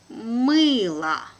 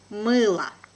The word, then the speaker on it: мыло: Мыло. Мыло. Pay attention that letter O here is without accent. So it has a weak position and I pronounce it like A.